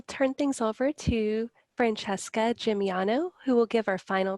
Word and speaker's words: Gimigliano: Gimigliano, are you ready to begin? Yes, thank you, Anne. And good pronunciation of my last name.